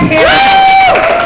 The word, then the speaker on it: Harrow: So give it up for Harrow, whose name rhymes with terror, and he definitely was a terror.